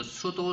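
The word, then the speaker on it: pseudo: 그리고 sudo select라고 해서요. P가요. 묵음으로 발음되네요.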